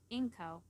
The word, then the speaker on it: Inko: the names Blitz izuku the O is silent inko what oh izuku exactly